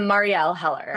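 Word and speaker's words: Marielle Heller: and the script that Marielle, how do you pronounce her name? Um, Marielle Heler.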